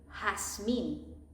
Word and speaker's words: jazmín: Or you get there, jefe, like this sound, like Jasmine. In Spanish is jazmín. Jazmín.